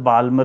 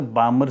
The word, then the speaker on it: Balmer: दूसरी spectrum line जो है उसको कहा जाता है बालमर सीरीज। उसको समझते हैं बालमर में इसको पढ़ने में बाल्मर प्रोनाउंस इसका बामर सीरीज कहा जाता है।